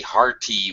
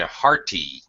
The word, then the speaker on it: hearty: same thing uh it it is pronounced as a fast D or a flapped d so for an American